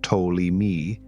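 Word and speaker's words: Ptolemy: to 170 years ago and is pronounced toi me developed the most complicated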